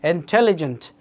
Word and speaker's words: intelligent: Intelligent. Second syllable হয়েছে The intelligent automation platform.